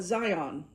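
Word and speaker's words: Zayin: It's spelled Z A Y I N. I call it Zion.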